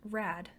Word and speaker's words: RAD: 12 years and older are a d stands for rape aggression defense and you can also pronounce it rad enrolling in a rad